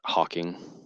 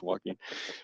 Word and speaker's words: Joaquin: That's how you pronounce his name. Joaquin. Joaquin. Not Hawking.